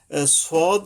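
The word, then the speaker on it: صاد: সদের উপর আচ্ছা আগে সদটা হলো এরকমের যে আপনাকে জিহ্বার আগা সামনের নিচের দাঁতের আগা থেকে শীষ সহ মোটা ভাবে আদায় হবে সদ অর্থাৎ জিহ্বার আগাটা আইসা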